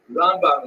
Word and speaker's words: Ramban: all your friends there ramban is pronounced with the emphasis on the first syllable ran and ran is